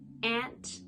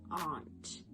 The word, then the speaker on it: aunt: in there aunt so in canada we say ant where it sounds more like a short a in america it sounds more like a long o aunt next word is progress